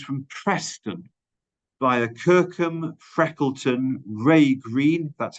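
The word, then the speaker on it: Wrea Green: Secondly, for 2024, my client has also secured a bus service for those from Preston via Kirkham, Freckleton, Ray Green, that's how it's pronounced, and Wharton for just £3 each way.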